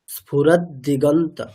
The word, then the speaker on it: স্ফুরদ্দিগন্ত: এটা কি বলেছি, নিচে যখন হসন্ত আছে মানে উচ্চারণটা হবে স্ফুরাদ, স্ফুরাদ দিগন্ত।